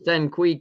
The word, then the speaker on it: Saniq: I said it wrong the first time. It's Saniq Carey.